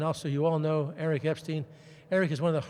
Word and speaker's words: Epstein: the eye candy uh the pronunciation of my name is Epstein if you forget it there were three great Jews Einstein Epstein and Frankenstein I'm Epstein Jew in